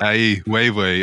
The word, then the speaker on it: Ai Weiwei: I loved his answer when you asked him who inspired him, and he named Chinese conceptual artist Ai Weiwei. I think that's the right pronunciation.